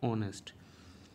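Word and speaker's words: honest: एनई एस टी नेस्ट नहीं होगा क्योंकि एच यहां पर साइलेंट हो जाएगा एच की साउंड नहीं आएगी तो हम ओ से स्टार्ट करेंगे इसको और इसको प्रोनंसिएशन करेंगे ऑनेस्ट सेम इसी तरह से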